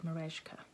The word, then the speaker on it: Merejka: By, and I believe you pronounce it Merejka. I heard Mama Bear Stitchery mention it once, and I'm sure she said Merejka, because that's not how I would have said it.